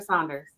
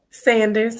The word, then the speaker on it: Sanders: Am I saying it right? Sanders or Saunders? Sanders, yes, ma'am.